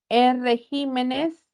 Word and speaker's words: regímenes: benjuí tipo de aceite no falsa siguiente palabra regímenes regímenes o régimen Cómo se pronuncia Ajá muy bien entonces es una esdrújula